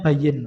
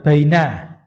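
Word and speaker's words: بيّن: Nah, kemudian wain ini bacanya bayyin, Pak, bukan baina. Tulisannya sama persis. Soal berikutnya itu ketemu soal berikutnya itu kan kata tulisannya seperti baina toh. Itu bukan baina tapi bacanya bayyin.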